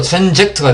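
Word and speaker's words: transact: 자, 그 다음에 트랜스액트라는 단어가 있습니다. 자, 이 단어는 트랜스와 액트의 조립이죠. 자, 이 단어의 발음은 원래는 이 트랜스와 액트의 조립이었습니다. 그래서 트랜스 액트 하다 보면은 저절로 트랜젝트가 되어버립니다.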